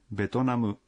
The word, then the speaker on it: ベトナム: Betonamu es la pronunciación japonesa de Vietnam.